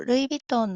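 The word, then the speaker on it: ルイヴィトン: この B の発音は言語学的に見るとバビブベボの美と同じ発音じゃないみたいですけど、ま、 B と同じように発音しても通じますよ。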